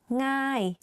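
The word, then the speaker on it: ง่าย: ง ่ า ย easy ง ่ า ย meaning easy like thinking of singing the ng sound you use that sound in front of the word ง ่ า ย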